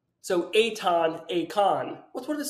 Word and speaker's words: Eitan: Now, a fun thing about my name is it is pronounced and spelled nothing alike. You know, when I meet people like, is it Eitan, Eitan, Ethan? Which one? Ethan, yes, Ethan. And it's pronounced Eitan.